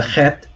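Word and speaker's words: ח: So the chet makes the ch sound currently, but once upon a time, it also made the h sound, which Arabic speakers might be familiar with.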